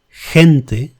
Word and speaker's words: gente: The other pronunciation is stronger, H, and that pronunciation occurs when it is followed by E and I, as in the examples we have here: gente, people, girar, turn.